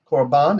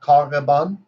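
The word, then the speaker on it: קָרְבָּן: And does anybody understand why it's korban and not karban? It's korban.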